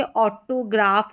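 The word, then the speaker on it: autograph: फिर यहां पर देखेंगे ऑटोग्राफ हो गया क्या है ऑटोग्राफ पीएच फ साउंड के लिए डॉल्फिन फ फस्ट साउंड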